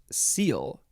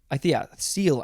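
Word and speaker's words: -cele: and next we have i think it is pronounced seal seal i believe it is a suffix spelled c-e-l-e um doesn't give me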